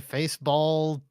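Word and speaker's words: Faceball: anything is it the face ball 2000 it rhymes with baseball hooray I guessed it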